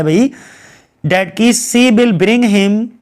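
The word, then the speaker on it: Caius: Kent, और बाद में ये कीज बन जाता है, अपना नाम कीस रख लेता है। कायस भी पढ़ते हैं, लेकिन आप जो भी मन करे वो पढ़ लो, मेरा तो प्रोनाउंसिएशन ऐसा ही है।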